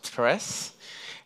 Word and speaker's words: Tres: Tres is a Spanish word for ThreeJS, and it's pronounced Tres, and in reference of the library.